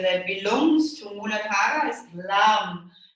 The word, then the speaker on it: Lam: So the syllable that, the sacred syllable that belongs to Mooladhara is Lam. So it's L-A-M. So it's a bit like yam in Australian, yeah? But it's with an L, Lam, Lam.